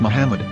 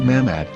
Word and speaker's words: Muhammad: According to Ben Yehuda's Hebrew English Dictionary, it is correctly pronounced as Muhammad, not Mamad.